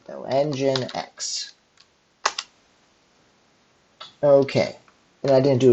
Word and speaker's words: nginx: are going to sue apt install nginx let's spell it right now engine X okay and I didn't do attack y so